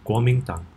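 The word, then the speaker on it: Kuomintang: today I'm going to show you how to pronounce Warmington popularly also known as KMT for short the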